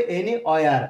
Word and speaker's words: anywhere: এনি, প্রথম শব্দটি আছে এনি হয়ার, হয়ার হবে না, ওয়ার, এখানে ডাব এইচ, এইচ অক্ষরটি, এখানে এইচ লেটারটি সাইলেন্ট লেটার, ওকে, সো এনি ওয়ার, এনি ডাব্লিউ ই আর, উচ্চারণটা করতে হবে এনি অয়ার, অয়ার, এনি ওয়ার, এনি